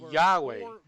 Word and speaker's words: Yahweh: Eu pronuncio o nome Yahweh.